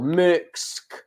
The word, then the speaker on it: Merkx: So it's Merkx. Bloody hell, Merks.